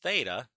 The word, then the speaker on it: theta: So the sine of theta, that's, by the way, how we pronounce that little variable, is the opposite, which is y, over the hypotenuse, which is r.